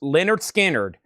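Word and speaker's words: Lynyrd Skynyrd: Leonard Skinnard, pronounced Leonard Skinnard, a 2LP, 45 RPM, analog productions, $64.99 for Leonard Skinnard.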